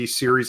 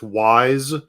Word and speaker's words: Ys: podcast version of this you may have been mispronouncing the eer as wise this entire time so that's the game series that we're talking about because I may have mispronounced that series for many many years in my youth Ys Ys yes the E Series I called it the wise series for so long yeah